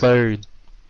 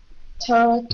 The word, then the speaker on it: third: Third. Third.